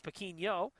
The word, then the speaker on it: Pinho: We've been uh we've been pronouncing it Pino the whole time. It's Pino.